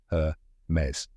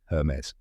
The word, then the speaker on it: Hermès: Correct pronunciation is her mez. Let's break it down step by step. First, her rhymes with fur. Then mez, which rhymes with fez. Now say it with me. Hermes. One more time. Hermes.